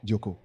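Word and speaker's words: διώκω: Le suivant, Dioko. Dioko. Un Timothée, chapitre 6, le mot dioko s'écrit D-I-O-K-O, dioko.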